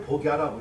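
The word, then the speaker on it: 僕射: 복사를 복야라고 읽어요.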